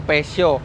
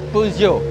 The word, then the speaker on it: Peugeot: benar ada yang bilang pesio ada yang bilang pejot tapi kalau menurut orang Prancisnya membacanya itu puugio puugo Yah susah jadi